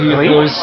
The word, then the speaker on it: Hierholz: C'est bien, je prononce bien votre nom? Oui, Hiroltz, c'est ici bois.